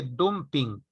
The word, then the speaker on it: dumping: Se escribe dumping, pero se pronuncia dumping.